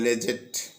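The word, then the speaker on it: Leggatt: জাহাজের ক্যাপ্টেন যার নাম লেগেট ল্যাগেট এল ই ডাবল জি এ ডাবল টি অপর জাহাজের ক্যাপ্টেন এই অপর জাহাজের যে ক্যাপ্টেন অর্থাৎ দ্বিতীয় জাহাজের যে ক্যাপ্টেন লেগেট কে উচ্চারণ করে লেজেট যাই হোক এই লেগেট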